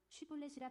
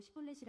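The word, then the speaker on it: 쉽볼렛: 만일 아니라 하면 그에게 이르기를 쉬볼렛이라 발음하라 하여 에브라임 사람이 그렇게 바로 말하지 못하고 시골렛이라 라 발음하면 길르앗 사람이 곧 그를 잡아서 요단강 나루턱에서 죽였더라.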